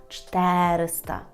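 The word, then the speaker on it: czterysta: подібно у слові чотириста Зверніть увагу що наголос є такий Ну не за правилом якщо ви вже вивчаєте польську мову ви знаєте що в польській мові наголос падає де на перед останній склад Тобто десь там чисто теоретично мало би бути те ри мав би бути наголошений склад ри правда але так не є кажемо чотириста чотириста це винятково треба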